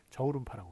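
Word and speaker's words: 저우룬파: 한국은 주윤발이라고 그러지만 중국에서는 저울음파라고 그러거든요. 그래서 저울음파라고 쓰는 것이 맞습니다.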